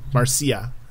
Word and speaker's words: Marcia: Or how do you spell it, Andy? M-A-R-S-H-A? Marcia? No. C-I-A. C-I-A. Marcia.